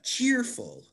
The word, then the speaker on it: cheerful: How about Jessica, cheerful? I think it's chair. Correct. Yes. Very good. We have 2 syllables. And in this one, we emphasize the first syllable, cheerful.